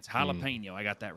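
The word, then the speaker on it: jalapeño: At least I learned not to pronounce it jalapeno. I got that Oh, right. oh, Jesus Christ. Yeah, it's jalapeno.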